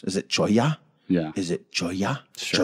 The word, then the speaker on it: cholla: I didn't want to use the word chola in there. Just because it's kind of weird to pronounce. Is it choya?